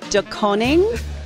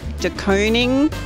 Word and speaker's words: De Koning: DeKoning? Are you kidding? It's DeKoning. DeKoning, like an ice cream cone.